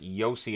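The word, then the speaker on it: Josi: them are listed alphabetically except the lindsay where yossi should be first i understand it's pronounced yossi is in a y but it's still first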